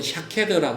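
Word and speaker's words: שָׁקֵד: 이것도 중요합니다.이 살구나무는 예레미야 1장에 여러분 같이 한번 찾아보시면 하나님께서 살구나무 꽃을 예레미야에게 환상으로 보여 주시는 모습이 있어요.이 살구나무는이 히브리어 발음으로는 샤케드라고 합니다. 샤케드. 그래이 히브리 살구나무는 유대 땅에서는 겨울 끝나고 나서 제일 먼저 꽃이 피고 열매 맺는 그 과일이에요.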